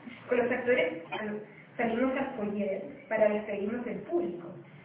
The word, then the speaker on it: foyer: Foyer. Sí, se pronuncia foyer. Foyer. ¿Foyer? Es una palabra francesa, sí.